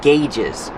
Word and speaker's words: gauge: On the instrument panel, you have a lot of different gauges. Pronunciation, gauge. Use the hard g and the long A, like say and pay.